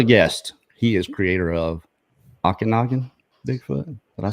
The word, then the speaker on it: Okanagan: And our other guest, he is creator of Okanagan Bigfoot.